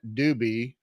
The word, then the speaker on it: Dubi: Her name is Karen Dubi. Not spelled the same as the Doobie Brothers, but sounds like the Doobie Brothers.